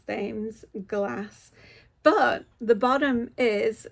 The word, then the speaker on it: Thames: I say Thames. It's supposed to be pronounced Thames.